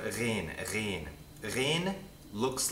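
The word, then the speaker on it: غين: It's almost like a French uvular trill.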